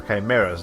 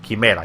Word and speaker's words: chimera: I always think that that word is pronounced like that section of the word is pronounced kai, not chai. Like even in Spanish, yeah. The Spanish word for chimera is quimera, so we don't pronounce it chimera or anything. So yeah, I don't think the chai part is really accurate.